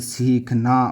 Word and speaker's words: सीखना: सीखना, बड़ी की मात्रा है तो बड़ी की मात्रा होती है सी, थोड़ी सी लंबी खींचती है, सीखना।